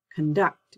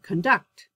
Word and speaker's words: conduct: If the word is a noun, the stress is on the first syllable, like conduct, conduct rather, conduct. But if it's my verb, I would say conduct, conflict, conflict, contract, contract, decrease, decrease.